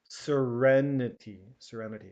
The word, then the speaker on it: serenity: Okay, and here, serene, serenity. Okay, so the the second syllable has a different sound. Serene, serenity.